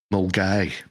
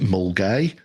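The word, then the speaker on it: Milngavie: where I was raised um called M right mgy is how it's pronounced unless you're from mgy in which case it's mavi cuz that's how it's spell m i l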